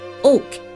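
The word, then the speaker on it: 옥: flowed pure like Jade which is pronounced Oak in Korean Bridge was constructed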